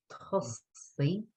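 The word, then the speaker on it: tosaigh: Tussy. T-O-S-A-I-G-H. So a lot of these 2 syllable commands then end in A-I-G-H or I-G-H.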